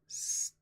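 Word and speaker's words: stichic: Or broken into stanzas is stickic. It's literally stickic. S-T-I-C-H-I-C. Stickic. And poems of unrhymed stickic lines written in regular meter are known as blank verse.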